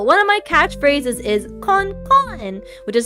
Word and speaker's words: kon: Con. I say con. And sometimes I'm a little bit lazy when I say con and I pronounce it a more American way and say cone.